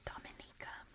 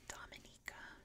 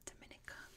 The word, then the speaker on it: Dominica: Sea in the world not mistaken next is Dominica and yes it is pronounced Dominica not Dominica common Mis consumption it's Dominica little known at